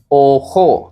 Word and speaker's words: ojo: When J comes between the word, then we will say, when J come between alphabet, then we will say ojo. It sounds like ha.